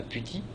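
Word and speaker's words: PuTTY: SSH donc moi je pense par exemple à puti donc ça s'écrit pu2ty c'est un petit utilitaire qui fait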